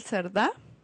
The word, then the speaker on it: Cerdá: Sí, estoy como Cerdá, con acento en la A final.